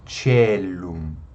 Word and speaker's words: caelum: Caelum, como o ditongo AE ou OE, possui o som do E, então o C fica caelum, caelum.